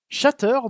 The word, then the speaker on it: Shatter: deuxième version studio siri's chateur dont le nom est bien prononcé comme ça puisqu'il y a de T je note juste au